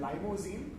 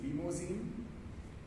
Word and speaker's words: limousine: A few pronunciations, and it isn't limousine, it is limousine.